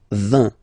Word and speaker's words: vingt: And the last one, so this G letter is here, but you don't pronounce it, okay? And then final T doesn't exist phonetically either, so basically you will only need to pronounce these 3 letters, so you get V, V, and then you get nasal, IN, un, vingt, vingt, vingt, okay?